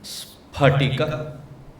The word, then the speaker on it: स्फटिक: In samskutam there is no syllable which pronounces as f. It is not spatika. It is spat. It is not p fb. It is p-b. Therefore, it is not karmafal. It is karma pala. It is spatika.